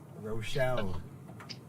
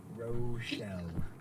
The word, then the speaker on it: Rochelle: Like one of the most infamous Illinois 108 in history, Rochelle. Rochelle.